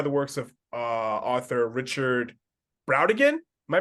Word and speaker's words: Brautigan: And this is inspired by the works of author Richard Brautigan. Am I pronouncing that right? Rodigan, yeah.